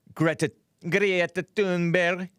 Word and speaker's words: Thunberg: Greta Thunberg. That's her Swedish pronunciation. Except I'm saying it kind of harshly.